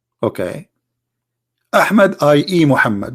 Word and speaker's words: Muhammad: name of this prophet mohammed okay hamid ie Muhammad but it is not Mohammed I mean there's a huge difference in the pronunciation he was different in